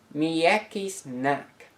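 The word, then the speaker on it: м'який знак: that don't make sounds by themselves but service pronunciation guides this letter is known in ukrainian as miyaki snack translating into english as soft sign this letter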